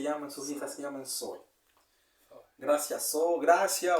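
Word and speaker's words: Zoë: Que la vida de Dios se escribe Zoe. Z-O-E. De hecho, con 2 puntitos sobre la O.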